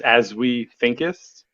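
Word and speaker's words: Azwethinkizst: never really figured that out so uh it's pronounced as we think is uh a-z-w-e-t-h-i-n-k-i-z-s-t it's a space go ahead oh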